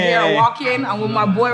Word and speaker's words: Walk-In: Right here, I walk in. I'm with my boy right here. He came to get some drip. If you want to get some drip in Montreal, come to walk in.